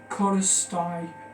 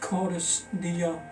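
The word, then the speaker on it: Cordis: Number 8 is Kodestai. Well, it's pronounced Kodestia. It's Latin. This mission's number 8 because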